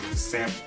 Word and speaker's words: salmon: Some people say salmon, but the L is silent. If you know, salmon.